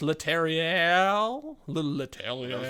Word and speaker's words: Leterrier: So, directed by Louis Leterrier. Nice. I'm trying to get the nice very French nice pronunciation. Leterrier, if you're born American.